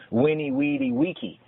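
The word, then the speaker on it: veni, vidi, vici: But in Old Latin, it was winnie, weedy, wiki, like Wikipedia.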